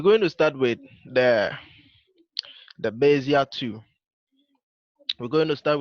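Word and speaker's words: Bézier: So today we'll be going over the Bezier, the Bezier, the Bezier, the Bezier tool.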